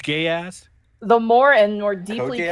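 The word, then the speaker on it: geas: incredibly potent and Powerful geese spell geese spell g e a s oh gas g I'm familiar with it it's G sorry it's I'm sorry I butcher it every time it's pronounced gay ass the more and more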